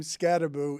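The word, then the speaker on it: Skattebo: Uh why it is that Cam Scataboo uh pronounces Michael Jackson. Cam Scataboo pronounces his name Scataboo even though he only spells it with one O. And I feel like it should be Scatabo.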